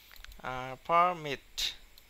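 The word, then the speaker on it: permit: পারমিট, পারমিট, এটা কিন্তু যখন ভার্ব হিসাবে ব্যবহার করা হবে তখন কিন্তু মিটে উচ্চারণে চাপ দিতে হবে।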